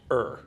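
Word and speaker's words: Ø: that is pronounced as if it was fur.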